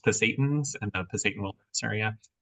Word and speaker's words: Pasayten: I believe the way to pronounce it is Pasaytans in the Pasayten Wilderness area for about a week later on this summer.